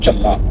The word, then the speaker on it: छल्ला: ऐसा नहीं है, ये चल्ला है। इसका जो इसका उच्चारण चल्ला होता है। पंजाबी में चल्ला हम बोलते हैं, झल्ला तो झल्ला बोलते हैं। छा नहीं आएगा, चा आएगा, छल्ला चल्ला चल्ला झंडे वाला झ।